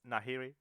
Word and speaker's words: Nahiri: As Nahiri. Is that how you pronounce the name? Sounds alright. Sure. I think it's Nahiri, yeah. It is, yeah.